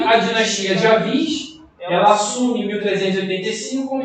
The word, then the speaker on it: Avis: Vale ressaltar que Avis, né, ou Aves, enfim, mais vai pronunciar Avis, tá?